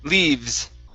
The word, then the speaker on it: leaves: v sound in english your lips do not touch so it's only the top teeth on your bottom lip leave leaves leaves there